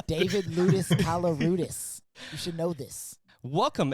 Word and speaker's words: Koloroutis: I was going to pronounce it wrong again, Koloroutis. Yeah, what's going on? It's David Ludus Koloroutis.